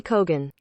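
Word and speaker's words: Keoghan: tuned we're still recording you say it barry keon okay there you go okay barry barry so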